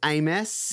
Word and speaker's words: aMess: I'm here with, otherwise known as aMess. Yeah, is that how you pronounce it?